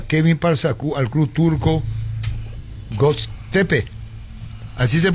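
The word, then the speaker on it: Göztepe: segundo José arruga Kevin pars al club Turco Go tepe así se pronuncia venta 70 por se cerraría en la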